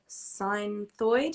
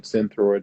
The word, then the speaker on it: Synthroid: In terms of treatment, is there anything more that someone can do other than being on Synthroid? Is that how you say it? Synthroid.